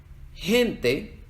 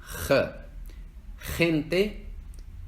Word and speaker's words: gente: la tarjeta de información en América Latina cuando va antes de una e una e la g se pronuncia como gente Gibraltar pero en España se pronuncia más gutural más desde la garganta gente Gibraltar igual que con la J en el resto de América Latina tiende a ser algo en medio gente Gibraltar cualquiera de estas pronunciaciones